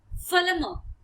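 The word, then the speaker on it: फलम्: बिल्कुल ध्यान दीजिएगा क्योंकि लास्ट में जो म है उसके नीचे जो डंडी आप दिख रही है व आधे की मात्रा के लिए उपयोग किया जाता है यानी कि जैसे फलम फलम म नहीं बोलेंगे फलम आधा म जो इस तरह से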